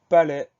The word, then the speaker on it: palais: Le premier mot, c'est le mot palais. Première syllabe, pa, pa. Deuxième syllabe, les. Le son E va s'écrire AI et on va avoir un S muet à la fin du mot.